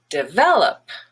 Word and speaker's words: develop: schwa so relative relative the word develop has a stress on the second e the middle syllable and that one is red but the first e is just a schwa de vel and then the op is up also schwa develop and then we